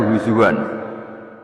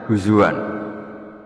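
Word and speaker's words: هزوا: ayat Allahu yastahziu Allahu yastahziu pakai hamzah ya orang kalau ngenyak orang lain jen apa tidak pakai apa hamzah tapi imam asim dimasternya bacanya huzuan ya imam asim bacanya di masdarnya huzuan.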